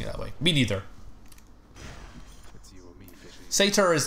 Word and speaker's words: satyr: Sata is apparently British, but I've never heard anyone pronouncing it that way. Me neither. Satyr is like the way that...